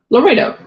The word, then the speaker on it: Laredo: Laredo.